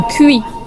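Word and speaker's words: cuy: Alors papa a commandé un cuit. C'est comme ça ça se prononce.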